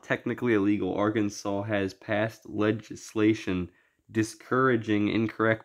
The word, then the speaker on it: Arkansas: Better not try to pronounce Arkansas phonetically. The provision specifically says that pronunciation with the accent on the second syllable with the sound of a in man and the sounding of the terminal s is an innovation to be discouraged.